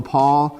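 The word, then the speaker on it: pawl: So the new and improved design on the paw, again, engages that whole paw at one time. Paw, if I'm pronouncing that wrong, it's P-A-W-L is what I'm trying to say.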